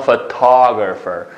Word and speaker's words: photographer: Sana photographer. Bu t'nin üstüge urğu düşüdü.